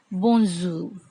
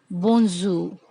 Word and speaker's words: bonjour: Hello, we say in French, bonjour, bonjour. Here, R is silent. We don't pronounce R.